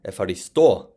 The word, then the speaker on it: ευχαριστώ: So that's why this would be ευχαριστώ, with the stress on the o at the end.